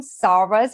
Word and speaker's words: Szarvas: When I had still my maiden name, Sarvas, which is spelled Szarvas, I had the most exotic kind of names coming out.